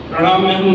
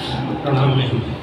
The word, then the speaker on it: प्रणमाम्यहम्: प्रणमाम्यहम् सही उच्चारण है, कभी कभी लोग प्रणमाम्यहम्, प्रणाम्यहम्।